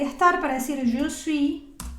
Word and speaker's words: suis: y estar para decir je suis. De nuevo, esa S al final no se pronuncia.